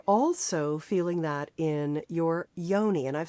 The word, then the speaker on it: yoni: It resides in aronyi and it's spelled y o n i and the male te penis and testicles.